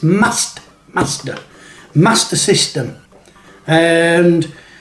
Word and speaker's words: Master System: it is it's the master system master master master system there's no r between the a and the s in master it's not mars master system left retro